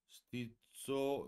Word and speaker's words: stizzoso: 스티쏘 요 Z가 두개 있는 거 발음이 좀더 되다 그러니까 좀더 진하게 가사를 좀더 씹어야 된다 뭐 이렇게 표현을 하죠.